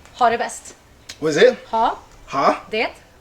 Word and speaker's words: ha det bäst: Oh, you have to say ha det bäst.